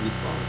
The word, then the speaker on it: Nisqually: Okay, you're gonna have to start by telling me whether I pronounced that right. Nisqually? Yep. Okay. Yep, you got it, Nisqually.